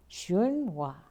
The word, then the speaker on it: Xuanhua: The Chinese master, you can correct my pronunciation, Xuanhua? Shu? Say it loudly. Xuanhua.